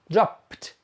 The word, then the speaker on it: dropped: Drop, drop. The final sound is p, p. So the past tense is pronounced dropped, pt, pt.